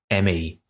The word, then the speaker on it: M.E.: For this episode of Electric Friends, we look back at the Pleasure Principle album track, ME. Standing for mechanical engineering but pronounced as me in the song as a double meaning, ME is the fifth